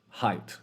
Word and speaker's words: height: here we see that the GH sound is silent it's almost like this right the same thing with height ah height height and sight if you didn't have